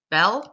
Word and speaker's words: bel: "Une belle femme," "un bel homme" parce que, because saying "un beau homme" is really hard to say so ça devient "un bel homme" because there's the other voyelle très bien.